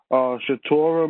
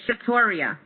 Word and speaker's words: Shatoria: We have now Shatora. Shatora, did I pronounce that correctly? Shatora, you there? She's there. Just give her a second. Shatora, you give there? her a second. It's Shatoria. Shatoria.